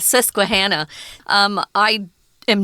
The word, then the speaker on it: Susquehanna: susquehanna river system well i was uh raising sesquihana susquehanna um i am not from pennsylvania but uh